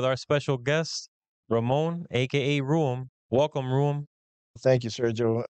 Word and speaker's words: RUEM: front of the letter when you say it, right? So I thought, let's put those together, R-U-E-M, hence RUEM.